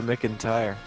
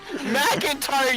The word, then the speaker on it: McEntire: believe Jack Frost is in love with Reba McEntire. Who? I completely pronounced her name wrong. Reba McEntire. McIntyre, you fucking, I know, I fucked it up.